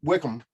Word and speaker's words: Wycombe: right, thank you for the correction on the pronunciation, Wickham and Middlesbrough.